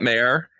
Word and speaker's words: Mehr: Is that Mayor? Or the fun thing is that it's /Mayor, but it's spelled MEHR. But she says... sounds like Mare, so you don't have to sweat the pronunciation.